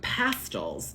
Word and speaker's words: Pastilles: Now, I have been told you pronounce this fruit pastels, and which is, if that is true, that is a complete abomination. That is completely unacceptable. You are never allowed to laugh at an American who mispronounces this on the first try, because we would never, ever get pastels out of this.